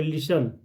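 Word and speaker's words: listen: silent है यहां पे लिसन टी साइलेंट है शुड एल साइलेंट है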